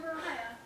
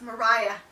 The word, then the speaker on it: Mariah: Live from Fort Mariah. It's Mariah. It's Mariah. It's not for Maria.